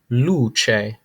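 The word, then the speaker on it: luce: hand no problem for you okay next up luche luche lamp uh light apologize it's providing light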